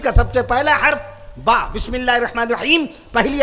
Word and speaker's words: با: شریفہ کا سب سے پہلا حرف با، جسے ہم اور بہت سارے ہمارے بھائی اور بہنیں بے کہتی ہیں، بے تے سے. بے تے سے یہ اردو کے تلفظ ہیں، فارسی کے ہیں، عربی کے نہیں. قرآن مجید کے اندر کہیں بے تے سے نہیں ملے گا، با تا سا جیم ہا خا ملے گا.